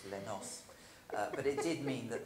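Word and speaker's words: Les Noces: And so I got put on Stravinsky's Les Knockers, because the crew didn't know how to say it, of course, Les Nos.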